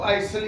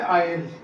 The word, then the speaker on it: isle: ये जनरल से word ISLE, इसको आइसल या आइजल पता नहीं क्या कुछ पढ़ाते हैं टीचर। तो ये करेक्ट इसकी प्रोनाउंसिएशन है आयल, जैसे कुकिंग आयल, आयल, आयल।